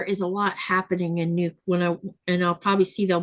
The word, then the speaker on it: Nuuk: I just think people need to pronounce the name right. It's not Nook.